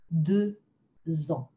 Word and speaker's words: deux ans: When a word ends with X, this is not the most natural guess, but we also make a Z sound. So 2 years or 2 years old, deux ans.